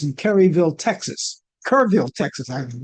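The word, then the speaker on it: Kerrville: Kurville, Texas. I pronounced that right.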